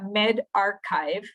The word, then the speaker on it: medRxiv: Algo que es sumamente nuevo es este sistema de preprint, que no sé si han visto esto es MedRx1B, que se pronuncia medRxiv, ¿verdad? Archivo médico, o bioRxiv.